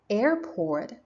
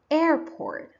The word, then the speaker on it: airport: foreign okay let's check Airport so as you see the stress is on the first syllable Airport I pronounce air more strongly computer so computer has